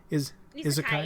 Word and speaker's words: Isekai: Isekai genre. Am I pronouncing that right? Isekai.